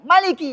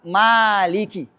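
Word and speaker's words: مالك: Enggak boleh Maliki, harus Maliki. Ah, kalau baca riwayat yang lain yang pendeknya Imam Assusi, baca pendek enggak boleh panjang bacanya Maliki yaumiddin.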